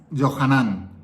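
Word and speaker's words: יוחנן: Fíjate, en arameo, Jesús se pronuncia Yeshua bar Yosefet. Pedro es Kefas. Juan es Yohanan.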